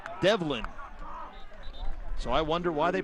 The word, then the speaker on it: D'Evelyn: v l y n some people may say de Evin but according to the people for the Jaguars it's pronounced develin so I wonder why they put the apostrophe